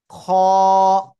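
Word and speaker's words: خ: খ, খ। এ অক্ষরটা কিন্তু মোটা আওয়াজ, এ কিন্তু আকার গ্রহণ করে না। খ গলার শেষ ভাগ থেকে উচ্চারণ হয়।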